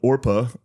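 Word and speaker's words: Orpah: I feel like Oprah is a Yeah, her first name was spelled Orpa O R P A H on her birth certificate, but people mispronounced it regularly and so Oprah stuck.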